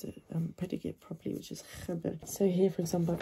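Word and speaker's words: خبر: Okay, make sure you pronounce the predicate properly, which is khabar.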